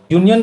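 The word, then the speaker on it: union: इसी तरह से यूनियन, यूनियन का प्रोनाउंसिएशन देखो, यू वाई निकलता है शुरू में, और वाई एक कॉन्सोनेंट है, इसीलिए यहाँ पर ए लिखते हैं हम लोग, ए यूनियन।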